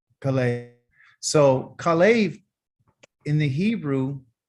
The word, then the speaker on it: Kalev: His name is spelled like this: a Kaf, a Lamed, and a Bet. Okay. And it's called Kalev. Okay. Kalev.